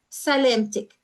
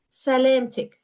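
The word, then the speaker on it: سلامتك: The ak is addressing a male, and for a female, salamtik. The ik is addressing a female. Sa, lem, tik, salamtik.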